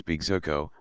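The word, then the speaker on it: bejuco: encaramars como la hydra, llamaban los indios Bigzuco, la penúltima sílaba luenga.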